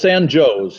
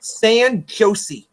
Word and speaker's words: San Jose: Yeah, it's San Joe's here. It's San Joe's. Well, that's not what the weather service pronounced it either. The weather radio person pronounced it as San Jose.